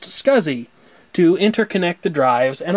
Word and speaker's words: SCSI: small computer system interface SCSI pronounced scuzzy to interconnect the drives